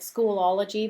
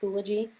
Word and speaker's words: Schoology: they're using a schooly it looks like schoology but it's pronounced schoology and I'm not familiar